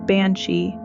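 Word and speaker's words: bean sí: The word banshee comes from the Irish bean she pronounced banshei meaning woman of the fairy mound.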